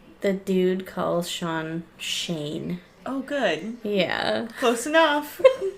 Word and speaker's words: Sean: And Sean's like, yeah, it's just pronounced Shane.